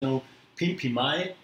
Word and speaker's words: Komtanoo Pinpimai: Komtanoo Pinpimai. Do I pronounce that right?